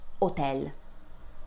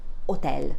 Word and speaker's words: hotel: This word in Italian would be pronounced hotel. Repeat after me. hotel.